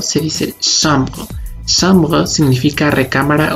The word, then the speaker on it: chambre: La C y la H en francés suenan sh, por ejemplo en la palabra chambre no se dice chambre, se dice chambre.